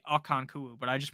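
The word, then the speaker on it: Okonkwo: night for ham um pronunciation of akanwaku akanku no I think his name is actually akanku but I just pronounced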